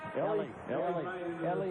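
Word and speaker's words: Elie: No. Ellie is how they're going to pronounce it or at least how he wants it pronounced. Mario Ellie, the newest 76ers.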